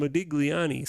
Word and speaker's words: Modigliani: So here's what Miller and let me pronounce the name right. Miller and Modigliani say.